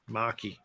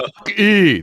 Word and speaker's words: Mach-E: Mach-E. That's what it's pronounced Mach-E. See, that's what it is. It's pronounced Mach-E. Get it, people.